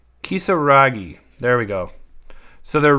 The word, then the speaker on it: Kisaragi: All right, so then we also have Yuffie Kisarage. No, I butchered that. Kisaragi.